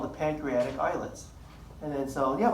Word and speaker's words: islet: So commonly mispronounced islet, right? How do you say island? Do you say island? Do you say island? It's island, islet, kind of the derivation of that word. But you'll still say islet.